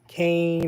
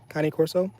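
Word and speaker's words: Cane Corso: So, some people say uh Kain or Kane. I I go with the Kane pronunciation. Kane Corso.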